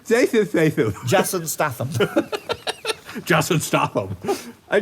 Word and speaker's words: Jason Statham: Jason Statham. Jason Statham. Jason Statham. I can't say his name. It's Jason Statham. Did I get it? Yeah. Yay! But Anyway, you can't pronounce the TH.